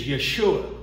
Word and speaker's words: Yeshua: that call him Yu there are many different pronunciations of the name but the truth is the actual name is Yeshua so to delineate between